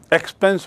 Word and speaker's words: expanse: Please see the word, it is not expense. एक्सपेंस माने खर्चा, ई एक्स पी ई एन एस ई, यहाँ है इसका spelling एक्सपांस, ई एक्स पी ए